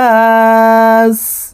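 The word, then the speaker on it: ملك الناس: কুল আউজুবি রব্বিন নাস মিম জবর মা লাম জের লি কাফ নুন জের কিন ওয়াজিব গুন্না মালিকিন নুন আলিফ জবর না সিন জের সি নাসি সিনকে এখানে এভাবে থামবো দেখুন মালিকিন্নাস মালিকি নাস হামজা জের ই লাম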